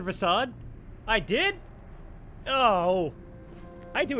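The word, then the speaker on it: Rasaad: I said recede, didn't I? Rasad.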